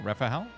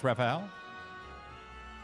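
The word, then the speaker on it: Raphael: and you go to Rafael's place in Boulders Gate 3 it's like a bunch of like wondering creatures just inside a big domain I don't know rafhael yeah rafhael that's how you pronounce rafhael rafhael say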